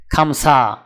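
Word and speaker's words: خمسة: আরবি ক্রমিক সংখ্যা 5 দেখতে এরকম, উচ্চারণ হবে খামসা।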